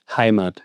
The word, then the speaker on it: Heimat: ¿Cómo se pronuncia? Heimat.